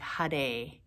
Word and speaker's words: Hare: probably heard it before hari krishna and it repeats h-a-r-e but it's often pronounced with a rolled r or almost a d sound like hade hade hade it's sometimes easier to